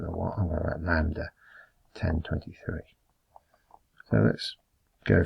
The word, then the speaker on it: lambda: it lambda times my b this is called lambda if you wanted to spell it it would be spelt a l m